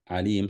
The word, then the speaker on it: alim: But saying he is alim sounding or rhyming with salim, this is sifa mushabbaha.